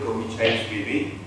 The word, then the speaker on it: Gogichaishvili: My name is Gogichaishvili.